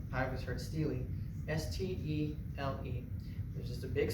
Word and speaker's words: stele: stele, or a stela, depending on how you pronounce it, right? I always heard stele, S-T-E-L-E.